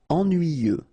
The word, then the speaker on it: ennuyeux: Okay, final X not pronounced, and then ennuyeux, ennuyeux.